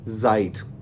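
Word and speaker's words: Zeit: जो इस वर्ड को अक्सर बच्चे पढ़ते हैं जाइट, हालांकि ये वर्ड साइट है, क्योंकि इसके स्टार्ट में जी आ गया ना, सेट आ गया, इसको हम पढ़ेंगे साइट। हालांकि अगर आप इसको जाइट पढ़ेंगे तो वो एक अलग वर्ड है, जाइट।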